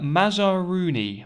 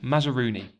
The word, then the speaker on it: Mazaruni: cliff another name for me to try and pronounce there for you the river mazarooni mazarooni so the river mazaruni light rises in the highlands of the far